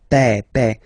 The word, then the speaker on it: père: Remember, accent grave like that. It's this opened père.